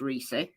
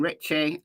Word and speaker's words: Reese: So Michael Osbrook, who's done some work with Reese Davis, says his name is pronounced Reese. Some people are calling him Ricky. Some people are calling him Richie. I'm going to say Reese.